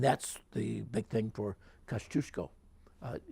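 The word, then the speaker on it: Kościuszko: the big thing for Kosciuszko no Cusco Kosciusko it's also pronounced but Cusco is the correct post pronunciation he's very effective as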